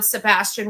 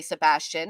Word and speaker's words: Sebastian: So we are saying it wrong when we say Sebastian. It's supposed to be like the movie says it, but whatever.